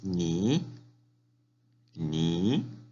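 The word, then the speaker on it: 您: Siguiente palabra, tú, se dice ni, ni, tú. Muy bien. Tercer tono, ni, tú. Aquí tenemos el carácter de tú. Ni, repite, ni, usted. Nin, nin. Segundo tono hacia arriba, nin, usted.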